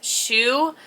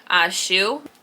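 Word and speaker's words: Hsu: And I want to say it's Shoe. I used to work with somebody that had that last name, and I think that's how we pronounced it, Shoe.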